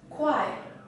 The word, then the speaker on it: 快: this character is pronounced as quiet quiet and as an adjective it means fast